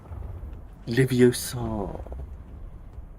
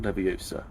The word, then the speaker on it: Leviosa: Spell it with an A. It's non-moving. Leviosa. Not Leviosa.